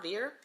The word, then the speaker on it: Veer: taking up space in your house so this Veer fan I believe that's how you pronounce it the brand is v-e-e-r vir so it's a misting fan so essentially what